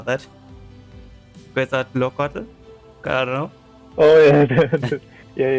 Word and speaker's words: Quetzalcoatl: Quetzalcoatl? I don't know. Oh yeah, yeah. That's actually it was a good pronunciation.